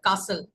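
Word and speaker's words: castle: द एयर कासल में याद रखिएगा टी जो है वो साइलेंट है ठीक है कासल कासल पढ़ेंगे किला या हवा में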